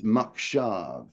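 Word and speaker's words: מחשב: It's makshav is what it is. Makshav? Makshav, yeah. The mem chet is the mach.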